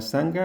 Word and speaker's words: Sangha: Estar en una sangha es tener una comunidad con la que compartir el camino. La pronunciación en sánscrito sería así. Sangha.